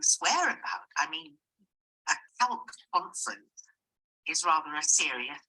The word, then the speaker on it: CALC: The conference is called CALC, rhymes with talc, and I understand from your explanation that you're all librarians involved in social justice work.